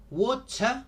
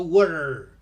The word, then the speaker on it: water: baker baker, singer singer, wota, water. In US English, the T in the middle of a word becomes an R, so water.